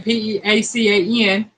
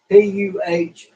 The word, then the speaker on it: pecan: I think they're saying Peacan or Peecan, and I'm like, no, it's spelled Pecan, pecan. Melinda said quiche. Jethro says quiche. That's right, Jethro. Pecan. Pronounce it like Puhcan. Or Puhcon. Pecan.